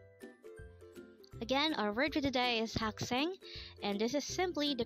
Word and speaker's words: 학생: hak sang again our virtue today is hak sang and this is simply the Korean term for a student again it's hakseng how do you write haksang in Hangul it